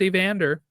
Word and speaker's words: Evander: And it rhymes with answer. It's Evander.